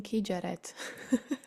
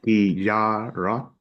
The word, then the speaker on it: kijárat: how do you pronounce it? Because I was always saying Kijaret. So kijárat, Kiara.